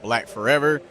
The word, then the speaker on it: BLKFRVR: own a brand called black forever but it's spelled differently it's actually spelled b-l-k-f-r-v-r and uh we're a